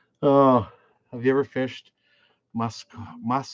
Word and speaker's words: Muskoka: Oh, have you ever fished muskoka? How do you pronounce that?